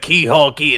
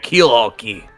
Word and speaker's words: Keelhole Key: I said Keyhole Key instead of Keelhole Key.